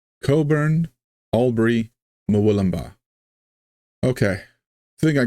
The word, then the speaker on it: Cockburn: one we have is Coburn but that's it's spelled c c k cockburn is what it's spelled like you're telling me you don't pronounce the CK so it's Coburn this is silent Co